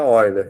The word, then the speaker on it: Euler: Euler se escreve, mas se pronuncia Oiler, que é um matemático alemão.